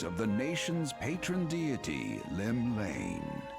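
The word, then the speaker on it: Llymlaen: drawn The Gaze of the nation's Patron deity Lim Lane Lim Lane okay that's a lot easier than I was trying to pronounce it what Rome shaking Fate has she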